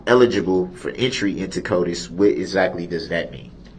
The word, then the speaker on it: CODIS: CODIS? Is that pronounced right?